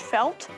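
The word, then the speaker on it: fáilte: This is pronounced felt. It is the Gaelic word for welcome.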